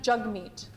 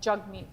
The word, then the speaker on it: Jagmeet: It's actually Jagmeet, like jug meat.